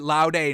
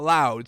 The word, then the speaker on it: laude: laude i think you pronounce it loud a not loud so that's how we're